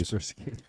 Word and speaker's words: Kaspersky: Kaspersky. I'm one of the only people that can pronounce that because it used to be a virus scanning software back in the 90s. Kaspersky.